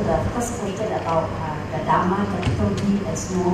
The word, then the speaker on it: Dharma: One is Pali, one is in Sanskrit, I think. In Sanskrit, we call Dharma. In Pali, Dhamma.